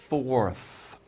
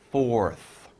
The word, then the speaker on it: forth: Now, we use fourth, and by the way, that might be hard to pronounce, F, fourth, and then R, right? And TH, fourth, okay?